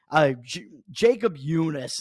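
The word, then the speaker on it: Jakob Junis: I mean, you got Jacob Junis. Is that Jacob Junis? Jacob Junis? Jacob Junis is how I pronounce his name.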